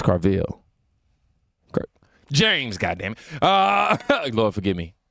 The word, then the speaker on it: Carville: Now, Bill O'Reilly loses it on James Carval. Yeah, y'all heard me say his name like that because I was over here like it's Carville.